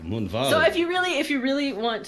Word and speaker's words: Moonvald: but pronounced like with a V, you know, because it's German. Oh. But yeah. So the So- correct pronunciation is actually like Moonvald.